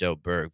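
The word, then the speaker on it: Åberg: wise I think it is LV a but you know with the little o above his above the a it's it's O Berg but anyway Superstar Talent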